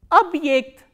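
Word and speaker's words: объект: And this ye is pronounced as the combination of these two sounds, e kratke and a.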